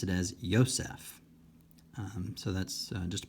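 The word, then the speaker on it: Ἰωσήφ: be an ADA but when it's followed by a vowel it often has kind of a y sound so I did not uh pronounce this as as EOS I pronounced it as ysf um so that's just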